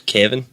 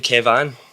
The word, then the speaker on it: Kevan: my jotter and went, "Is your name Kevan?" And I went, no, it's just Kevin. She was like, "Is it spelled like that with A?" And I was like, "Aye, that's how it's spelled." And she was like, "Your name's Kevan."